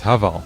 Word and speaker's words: Haval: It's Haval. Haval. It's a play on words, Chinese to English. Basically, have it all.